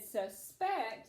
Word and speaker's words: suspect: idea about something for the person or the suspect it would be on the first syllable but if you use this word as a verb and said suspect it would be on the second syllable so I'll actually take